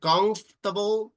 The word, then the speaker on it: comfortable: pronounce that word better the word comfortable the second o doesn't make any sound so it's not comfortable we say comfortable it's like the second o h is mute it doesn't sound all right so tell